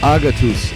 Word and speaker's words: Agatus: This week, it's another Greek band called Agatus. And yes, that is how it's pronounced.